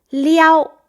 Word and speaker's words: 撩: 这是一个动作，但是它的这个动作，这个词，这个字读撩，了一凹撩一声，然后呢，它是这样的一个动作。